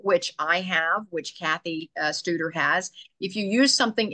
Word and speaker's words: Studer: So when we finally circle around to Cathy, do you pronounce it Studer or Stutter? Studer. Studer. That's what I thought. I just didn't want to pronounce it incorrectly.